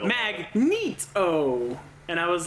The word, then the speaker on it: Magneto: up in x-men 1 they actually have like phonetically how you're supposed to say magneto right after they introduce them yeah they would do that mag meet oh and I was like